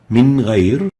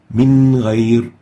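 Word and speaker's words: من غير: Next, Min Ghayr. Nun Sakinah followed by Ghain, pronouncing the Noon without exaggerating the gunnah and without إخفاء, clearly exposing the Noon. Min Ghayr.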